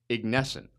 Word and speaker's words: Ignescent: And I been practicing saying their name right, Ignesscent.